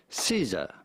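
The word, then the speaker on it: SZA: once you know scissor Caesar Caesar Caesar Caesar bit easy Caesar that's it like Caesar without the r I'm still probably gonna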